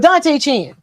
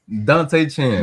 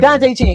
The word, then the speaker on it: Dante Chen: Dante Chin. Dad, man, his name. His name is Dante Chen. Dante Chen.